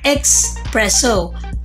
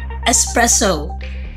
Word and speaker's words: espresso: at flaky Nakula say Austria so the correct pronunciation should be result next word espresso hindi depart expresso kunde espresso espresso a major mala Padma hoppy poor